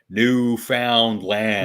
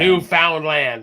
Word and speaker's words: Newfoundland: I love it when Americans pronounce our furthest easternmost province as Newfoundland. Newfoundland. I mean, they are pronouncing it right, but it's Newfoundland.